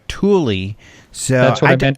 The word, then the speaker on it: Thule: The bike rack company of the same name goes by Thule.